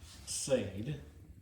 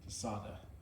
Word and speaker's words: Tsadhe: way of pronouncing it I learned from Israeli engineers that I used to work with and they pronounced it tada. So I say tada.